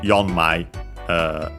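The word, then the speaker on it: 四枚: But yeah, in this case would be yonmai, accent on the first syllable, and so actually on the yo, because again, it's the syllable that matters, and so on its own doesn't count for it.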